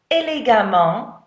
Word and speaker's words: élégamment: So listen to the way that's pronounced, élégamment, as opposed to prudemment. Do you hear much of a difference? I don't. No, not really. So even though it's emment and this one is amment, they're really pronounced the same way.